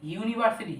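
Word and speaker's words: university: তাহলে বুঝে যাবে যেমন ইউনিভার্সিটি ইউ ইউনিভার্সিটি এখানে ইউ তোমার ভাও থাকা সত্ত্বেও তোমার এন না বসে বসবে কি এ কারণ উচ্চারণটা ইউর মত ইউর মত উচ্চারণ হলে তোমার এ বসে তারপরে ইউনিফর্ম এই এখানেও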